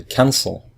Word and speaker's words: cancel: So in American English, the verb cancel, if we listen to it, we say cancel. So the first syllable is stressed, so we just add ing.